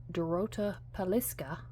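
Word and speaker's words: Dorota Palicka: And I learned this trick from Dorota Paliska.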